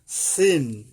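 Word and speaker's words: سين: ভাবে এবং একটু শীষসহ আর সিন সিন এটা হবে এটাও সামনের নিচের দাঁতের আগা থেকে শীর্ষ সহ এটা এই পর্যন্ত মিল আছে দুইটা অক্ষরের সাথেই কিন্তু এটা হবে পাতলা ভাবে সিন সিন সিন এখানে মোট না পাতলা আর সদ সদ ডিফারেন্সটা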